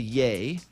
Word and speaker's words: Ye: changed his name to yay so it's just y e now yeah pronounce the a as in kanye after a name change